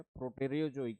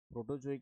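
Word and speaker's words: Proterozoic: प्रोटेरियोजोइक है, प्रोटोजोइक नहीं है, प्रोटेरियो।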